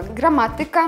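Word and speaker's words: gramatyka: слог с конца слова далее слова с суфиксом ика ударяются также на третий слог с конца слова граматика музыка также третий слог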